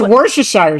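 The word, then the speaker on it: Worcestershire: How do I say worshshire? What's the wores? It's wor It's worshshire sauce. Hello.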